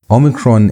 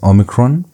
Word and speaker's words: omicron: And so it's pronounced like O as in note. That O sound is how you pronounce the letter O omicron.